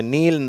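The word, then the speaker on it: kneel: green நீல் இதுல வந்து K silent முதல் எழுத்து அதுக்கு உச்சரிப்பு இல்லை அதனால அதை நீல் தான் சொல்லணும் டீத் குயின் வீல் ஓகேவா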